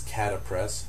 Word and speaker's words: Catapres: Then we move on to uh just one of the alphaag agonists and this is clonodine which is catapress c a t a p r e s.